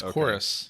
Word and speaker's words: Chorus: I have no clue how to pronounce Chorus. it. Is it Chorus? Yeah, it's Chorus.